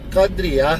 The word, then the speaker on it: Kadriah: Khodriah, Oh, Kadriah bacanya.